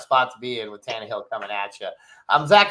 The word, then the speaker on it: Tannehill: pronouncing stuff you know he'll say Tannen Hill all day long even though there isn't an n in front of the hill part so but but I'll go Tannehill and obviously Ritter's already